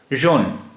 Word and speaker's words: jaune: ROUGES रूज, ये जमा मुज़क्कर और जमा मुअन्नस दोनों है, दोनों की स्पेलिंग एक ही रहेगी। जौन यानी पीला, JAUNE जौन, ये भी मुज़क्कर और मुअन्नस दोनों एक ही रहते हैं, जौन।